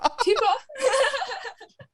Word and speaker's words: Tippah: I'm like Tippah, and they're like, what? I'm like, Tippah.